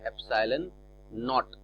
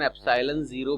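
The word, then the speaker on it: epsilon naught: तो ये अल्फाबेट है लेकिन ये हमने अलग से लगाया है, इसको पढ़ते हैं एप्सिलॉन नॉट। कई जगह पर मैंने इसका प्रोनाउंसिएशन एप्सिलॉन 0 भी सुना है, लेकिन प्रोनाउंसिएशन आपको वैसे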